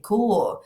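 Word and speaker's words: corps: tú ejecutarlo sino que si tú Oyes la palabra Co y no sabes que esa es la pronunciación de la palabra que está escrita Así corp es imposible hacer el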